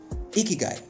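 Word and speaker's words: 生きがい: Ikigai, yeah, the pronunciation there, ki, then gai, yeah, ki, the keys and the gai, okay, is a concept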